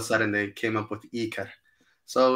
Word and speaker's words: Ikar: Yeah, so the name Ikar. That's the way it's pronounced.